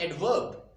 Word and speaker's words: adverb: Aid, you need to put stress or extend the first syllable.